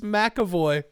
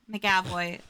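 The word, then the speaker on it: McAvoy: again please oh no how is it actually pronounced it's James makoy makoy macavoy I've been saying it wrong my whole life I heard you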